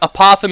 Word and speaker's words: apothem: who knows but uh but apothem is how I say it like the animal opossum and the apothem is